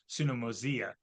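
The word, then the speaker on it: συνωμοσία: Oh, it should be mosia, because the I at the end is like the I in intrigue. So that's the pronunciation. It would be sunomosia, is the pronunciation of Koine Greek, if you care.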